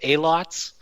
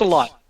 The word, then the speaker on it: AHLOT: We've had some AHLOTs. We've had some AHLOTs too. So, but just a lot. Just a lot. A lot. Yeah.